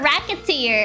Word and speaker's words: Recettear: there wreck it to your oh racketeer racketeer oh I see it ah it's I see